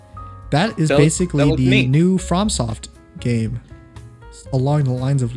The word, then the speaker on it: FromSoft: mean from well i mean that's how you pronounce it from soft you're saying from yeah that's how you pronounce it from soft does it have like a little mark over